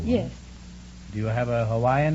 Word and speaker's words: Hawaii: But we always say that if anybody says Hawaii. Hawaii is the correct pronunciation, huh? Hawaii or Hawaii? Yeah. But over here they say Hawaii.